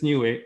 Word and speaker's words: Niue: new thing, because there is a country called Niue. It's pronounced exactly like I said. It is Niue.